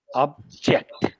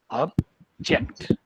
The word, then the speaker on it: object: we are using it as verb to object then the stress goes on the second one object object the reason is verbs usually take more markings tense and aspect marking on them therefore the stress is on the second sample not on the first one so but keep in